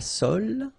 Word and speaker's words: sole: La sole. Same thing. Don't insist on the final E, okay? It only gives you the L sound.